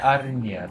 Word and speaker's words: Arinya: How do you say her name the other way round? Arinya? Yeah, Arinya. That's how you say it.